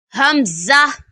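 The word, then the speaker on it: ء: to pronounce this is hamza kindly read after me hamza hamza comes from the back of the throat to pronounce hamza kindly read after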